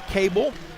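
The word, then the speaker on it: Koabel: we get a foul called against Duke Emma cable picks up the personal foul it's spelled k o a b l but pronounced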